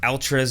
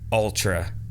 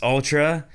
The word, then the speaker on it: Altra: peak hiking shoe or altras in general and i just got to say i'm sorry it's ultra just because it's an a doesn't mean it's altra it's pronounced ultra i could be wrong